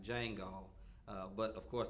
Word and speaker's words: Django: So I spell Jesus like Django, but of course the D is silent.